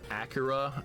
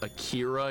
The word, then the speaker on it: Akira: In regards to the Ryu topic of pronounce Akira is Acura and not the more popular US pronounce pronunciation of Akira.